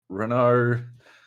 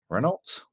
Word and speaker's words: Renault: calling it that honda renault renault uh i can never remember how to say that it's fresh mercedes renault renault okay the t is silent or the elder silent